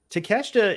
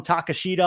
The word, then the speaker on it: Takeshita: bit alluding to it takeshita is one of those guys that was a relative unknown that came out we were calling him takashida on here we had no idea how to pronounce his name but now we're looking